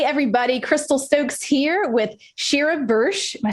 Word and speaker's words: Sheera Bursch: alright hey everybody crystal stokes here with shira bursh am i saying it right yes ah thank